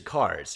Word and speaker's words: Kars: And then there's Cars, who is KARS, but just Cars.